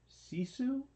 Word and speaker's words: Sisu: was thinking I'm going to say this wrong sisu you said it right I did yeah okay